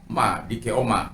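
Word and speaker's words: δικαίωμα: Kalau dalam dalam bahasa aslinya dikatakan dekoma, ya, dekoma, dikaioma, ya, bacanya dikeoma.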